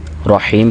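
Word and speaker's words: الرحيم: को वाज करना है रा को भी मोटा करना है रहीम के अंदर भी रा को मोटा करना है और हा की आवाज को भी सही प्रोनाउंस करना है आगे मालि की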